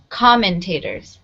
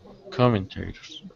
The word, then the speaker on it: commentators: okay some words here commentators it has the first syllable underline because that's where the stress is commentators can you repeat that commentators good okay and a